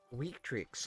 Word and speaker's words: Victrix: Victrix, I gotta remember that from high school. V's are pronounced with W's.